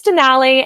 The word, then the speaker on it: Denali: It's not tomato. It's Denali, and it rhymes with the valley. Exactly. There you go. Yeah. So my name's Denali, and I have been